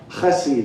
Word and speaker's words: chesed: The word kindness actually is the word hasid. Hasid. Chesed is how it's said.